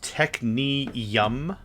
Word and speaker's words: Technium: In an interesting conversation piece, the name of this episode is It's Pronounced Technium because it sounds delicious.